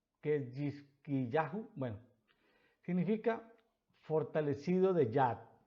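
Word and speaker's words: חזקיהו: Ezequías, en hebreo, es algo difícil de pronunciar. Cajizquiyá, Cajizquiyahu, Ketjizquiyá, Ketjizquiyahu.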